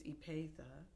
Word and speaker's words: Epatha: IMDb it's mkon so people always pronounce my name wrong it's Epatha and it's Merkerson it's m e r k r s o n and people say Merkerson they say merus meron but that I I